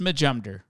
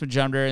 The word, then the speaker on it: Majumder: spelt wrong so so yeah it's it's just majumder and it's pronounced majumder and this is my new podcast my new